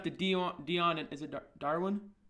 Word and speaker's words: Derwin: So when it comes down to Dion and is it Darwin? Derwin.